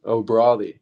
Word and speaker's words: O'Bradaigh: will bear you know o broi so I want people I want people to learn how to pronounce my last name that's just just say it like Mayweather ory exactly easy exactly well